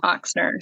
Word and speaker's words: Oxner: gets it wrong uh it's and oxner so it's like o x n e r oxner okay yeah it's my